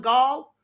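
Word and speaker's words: Gaal: Chattanooga State Police arrested 49-year-old Dennis Allen Gall. His name is spelled G-A-A-L, just like ball, B-A-A-L.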